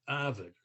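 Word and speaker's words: Avard: building was avid long i say it avid it does not was not spelled like harvard because it was a v a rd avid long's garage that's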